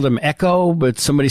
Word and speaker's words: EGO: So Tom says that it's pronounced Echo instead of Ego.